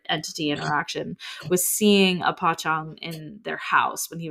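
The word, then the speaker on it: pocong: an entity called pong but it's spelled p c o n g so it looks like poong but it's pong um and it is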